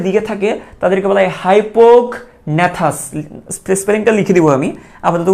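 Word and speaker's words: hypognathous: তো যাদের মুখছিদ্রটা নিচের দিকে থাকে তাদেরকে বলা হয় হাইপোগন্যাথাস। স্পেলিংটা লিখে দিব আমি, আপাতত উচ্চারণটা শোনো, হাইপোগন্যাথাস।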